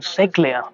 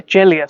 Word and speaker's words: Ceglia: I've been calling him Ceglia, but yeah, Ceglia sounds better, doesn't it?